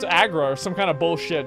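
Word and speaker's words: Aggra: No, it's Agra or some kind of bullshit, dude. That's a false. That's a 100% false. Okay. Fact. Her name is usually pronounced as Agra, though, in-game and in text.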